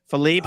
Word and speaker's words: Philippe: don't say Philippe even though that's the correct pronunciation Philippe is the correct pronounce pronunciation but it's not